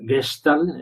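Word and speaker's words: Gestalt: o la terapia de la forma eh gestal gestal es la pronunciación que muy bien María de Viena hace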